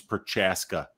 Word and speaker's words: Procházka: That was a Weezy pronunciation question. Oh yeah, it's Procházka.